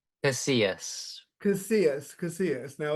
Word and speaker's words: Casillas: Casillas.